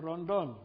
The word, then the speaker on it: Rondon: most remarkable character in the book is Colonel Ron dolls at how it's pronounced Colonel Candido da Silva Ron Dunn yes could you talk a little bit about